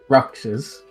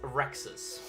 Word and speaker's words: Rexus: Now that I see the dragon, I'm gonna say, Roxas. Is that Sorry, you? did I pronounce his name wrong? Roxas. It's pronounced Rexus.